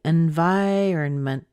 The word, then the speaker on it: environment: sometimes even an in you'll hear people say invite they'll say environment they'll say environment and those it's our n vironment and environment so you can get all of those sounds out of that first part but the stress is on vai and again just like